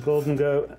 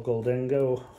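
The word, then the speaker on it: Gholdengo: Right, so the next one we're going to look at is this one, which is Goldengo and, or Goldengo, whichever way you want to pronounce it, and Gimmighoul.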